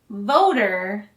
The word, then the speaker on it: voter: voter voter voter voter with vote we use a t but when you say voter it sounds more like a d tokyo polling place pulling